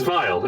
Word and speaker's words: Vile: Oh, my name is Vile. In common, that is spelled no. V-I-L-E. V-I-L-E, Vile.